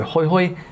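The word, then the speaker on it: Jujuy: salvador de hoyo and that's j-u-j-u-y which you silently pronounce so hoyhoy is good enough for us and then we can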